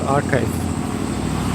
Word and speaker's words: arXiv: So, one aspect of this is that uh there is a preprint server called archive. And that's spelled a r x i v.